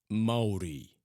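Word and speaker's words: Māori: I know you've helped out a few Maori boys in the past. Maori? You know, me. You're a Maori? What about Jelagaya? Is he a Maori? It's pronounced Maori.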